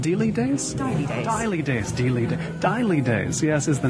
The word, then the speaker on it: Dejlige Days: much but until today didn't know how to pronounce have i remembered it right daily days days daily days yes is the name of the blog melanie